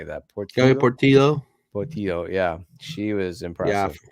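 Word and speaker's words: Portilho: Portillo, yeah.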